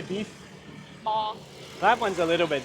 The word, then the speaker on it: bò: bò.